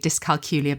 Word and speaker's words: dyscalculia: So I stand corrected and I'm going to be carrying on trying to remember to call it that from now on.